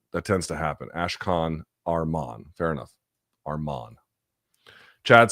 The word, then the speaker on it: Arman: It's pronounced Arman, not Arman.